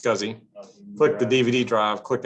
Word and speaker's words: SCSI: click the scuzzy controller scsi is pronounced scuzzy click the dvd drive